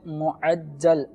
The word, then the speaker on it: معجل: جی ایک تو اس کا تلفظ بتا دیں، یہ دونوں بولنے میں تو ایک جیسے لگتے ہیں. دیکھیں ایک ہے معجل، میم عین جیم لام، معجل.